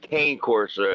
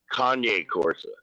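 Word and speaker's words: Cane Corso: Eddie because Eddie was telling us you're pronouncing uh it's not Kane Corsa. It's Kanye Corsa.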